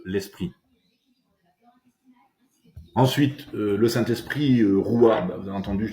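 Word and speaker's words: רוח: Signification du mot roua en hébreu, ben ça se dit roua qui signifie le souffle.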